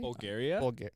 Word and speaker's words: Bulgari: It is festooned with red, white, pink, and black diamonds, as well as jewelry from Bulgari, right? Is that how you say it? Right? Bulgari? Bulgaria? Bulgari, like the brand.